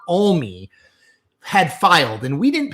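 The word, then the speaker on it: Alme: I said M and someone from Montana corrected me. It's Kurt Olie had filed and we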